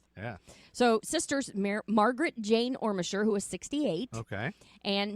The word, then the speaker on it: Ormesher: jumping into this is the murder of the ormisher sisters yeah so we're starting with amy because it happened on may 5th 1956.